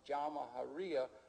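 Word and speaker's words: Jamahiriya: You'll hear Colonel Gaddafi talk about the Jamahariya, pronounced Jamahariya, which roughly translates, in an Arabic term, which roughly translates out the state of the masses.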